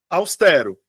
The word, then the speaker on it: austero: Austero. Tá? Austero. Eu tenho, de fato, 3 sílabas.